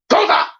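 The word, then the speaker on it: Cuza: Chapter 7, Serena and Koza. Yeah, C-U-Z-A. Koza! The reason I pronounce it like that, it's a little joke from the Proud Family when they met Sugar Mama's sister.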